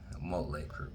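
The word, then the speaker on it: Mötley Crüe: Motley Crue. That's how you say their name. You see how he pronounces that name? Motley Crue.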